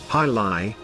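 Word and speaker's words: jai alai: sport on the planet jai alley pronounced hi li is that odd-looking competition found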